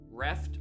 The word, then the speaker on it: reft: Reft rhyming with breath.